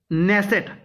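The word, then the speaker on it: Knesset: जा है ठीक है इजराइल न नेसेट बेसिकली के साइलेंट है के एन E double S ई टी के एन E double S ई टी नेसट किया जाता है इजराइल ठीक है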